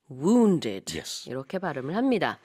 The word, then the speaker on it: wounded: than injured okay wounded this is not an easy one for English Learners to pronounce oh yeah because we we don't we don't use that that woo sound yeah we have but we don't have Wu Korea wounded open open the